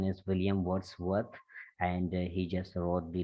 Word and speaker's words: William Wordsworth: I don't know what did you say, but its correct pronunciation is William Wordsworth, and he just wrote the lyrical ballads.